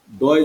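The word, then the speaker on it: the: তাহলে একটি হলো কনসোনেন্ট, যদি এই টিএইসি এই ওয়ার্ডটার পরে যদি যে শব্দটা থাকে সেটা যদি কনসোনেন্ট হয় তাহলে উচ্চারণ হয় দা, দয় জফলা আকার দ্য, দ্য।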